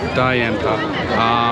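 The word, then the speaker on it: 大雁塔: here how do you say it in Chinese Da Yan Ta.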